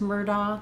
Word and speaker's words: Murdoch: in other people's names, Murdoch, they might use da here, that family used doc, with a hard k sound for the GH, Murdoch.